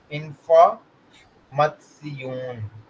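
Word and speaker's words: Information: ये आता है ना, TION, ठीक है, तो इसकी जो प्रोनाउंसिएशन होती है ना, वो हमारे पास होती है सियून, सियून। ठीक है, जैसे कि फॉर एग्जांपल इंफॉर्मेशन है ना, इंफॉर्मसियून।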